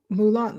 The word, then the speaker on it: Moulin: Moulin, like Moulin Rouge.